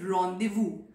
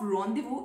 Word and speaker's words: rendezvous: Fourth word is rendezvous. So the spelling of rendezvous is very different from its pronunciation, and that is how quirky this French language is.